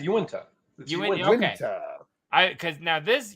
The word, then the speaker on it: Uinta: I say Uinta. No, it's Uinta.